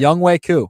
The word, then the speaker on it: Younghoe Koo: Younghoe Koo. Well, how you spell it?